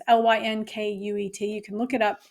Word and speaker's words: Lynkuet: Yeah, here's my issue with this is I don't know how to pronounce these things, but it's spelled elinzanetant, marketed as I would say Linquet, but who knows? It's Lynkuet.